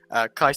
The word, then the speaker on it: Caicedo: Caicedo.